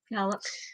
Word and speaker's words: Puyallup: Puyallup.